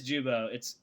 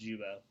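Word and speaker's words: Giubo: Yeah, it is Jubo. It sounds like Guibo, but it's actually pronounced Jubo.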